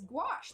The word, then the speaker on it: gouache: Why is she saying oh, it's gouache. That's how it's actually I don't even know how I pronounced it before.